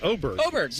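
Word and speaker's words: Åberg: I also learned that the guy whose name is spelled A B E R G is pronounced Oberg. Oberg.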